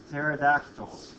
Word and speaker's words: pterodactyls: Why can you never hear pterodactyls go to the bathroom? Because the P is silent.